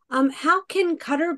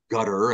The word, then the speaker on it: Qatar: Qatar, of course, is in Arabia. The U.S. military often calls the country gutter. It's just they can't pronounce the Q, I suppose.